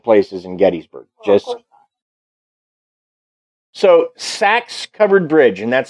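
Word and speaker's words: Sachs: the only haunted places in gettysburg just so sax covered bridge and that's spelled s-a-c-h-s it's a covered bridge now it's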